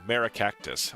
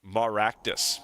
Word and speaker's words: Maractus: I have a pretty rare illust illustration rare of Marraactus. Oh, I'm saying that name wrong. Maractus. Maractus. I always want to call it Marra Cactus, but obviously that is not not exactly how it goes.